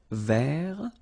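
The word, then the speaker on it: vert: Rouge remember rou so masculine form don't pronounce the final t ver feminine form ver so listen carefully I don't say but it's ver ver okay so as usual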